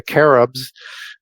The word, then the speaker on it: cherub: you get into the caribs in the Middle East. And CH used to be pronounced K in the original, in the Hebrew as carib. So not cherub, or as Horim is